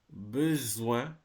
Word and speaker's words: besoin: OIN is pronounced like ouin. So, for example, you have soin, soin, besoin, coin, rejoindre, moins, témoin.